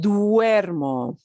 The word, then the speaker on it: duermo: so duermo i sleep it's pronounced duermo it's d-u-e-r-m-o duermo he sleeps she sleeps